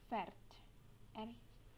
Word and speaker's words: fährt: Lalu kalau dia yang pergi jadi ini tinggal kasih umlaut, fährt, fährt, dia pergi.